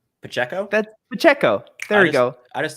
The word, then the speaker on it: Pacheco: have him or uh I keep pronouncing an n in this last name so I'm going to try to not but but Pachinko Pacheco that Pacheco there we go I